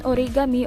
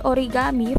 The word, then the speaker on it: origami: or welding hard materials origami japanese pronunciation origami or origami from ori meaning folding